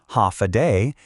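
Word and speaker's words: Håfa adai: Step foot on Guam and you'll hear one word again and again, ha aai. Pronounced ha a day.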